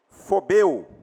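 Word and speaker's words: φοβέω: única palavra essa aqui dá para pronunciar fobeu que a raiz da palavra relacionada a fobia porque fobia também é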